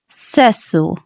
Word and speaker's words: sesso: Italian so let's start the correct way of pronouncing sex in Italian is seso seso seso seso seso seso seso Sesso seso repeat it with me seso